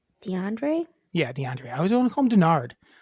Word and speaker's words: DeAndre: Am I saying it right? I think so. DeAndre Hopkins? Why does it sound wrong when I'm saying it? I don't know. It is DeAndre.